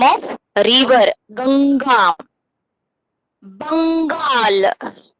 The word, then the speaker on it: Bengal: Bengal. बंगाल के ऊपर अंग का साउंड है, that is अनुस्वार. Sound come from your nose. Give little bit of pressure that letter and pronounce Bengal.